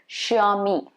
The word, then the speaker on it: Xiaomi: It's supposed to be Xiaomi, Xiaomi.